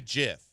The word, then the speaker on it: GIF: know what it is G and GIF is for graphic so hard G so hard G graphic GF or why do